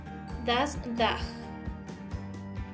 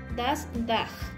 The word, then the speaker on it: das Dach: Y en alemán, das Dach. La CH del final se pronuncia como una G. Nuevamente, das Dach.